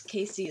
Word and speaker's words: Kaesea: Casey is spelled Kaesea, K and then C like the ocean.